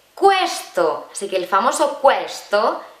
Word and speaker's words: questo: Esta palabra, que tú la leerías questo y no, se dice questo.